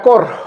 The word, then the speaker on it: cor: Al corazón del virus, usamos muchas veces este término en latín, cor, se escribe core, cor.